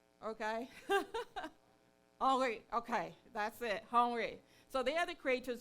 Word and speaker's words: Henri: guys, Keith and Henri, I think that's how to pronounce it, it's French. Any French person, sorry, any French in the room? Okay. Henri, okay, that's it, Henri.